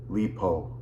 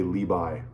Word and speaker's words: Li Bai: China, and that is Li Po, or as you'll hear him pronounced today, Li Bai.